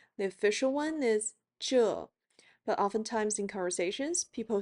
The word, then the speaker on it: 这: Please note that 这 (zhè) has two variations of pronunciation The official one is zhè but oftentimes in conversations people say zhèi which sounds like the English letter J You'll see me switch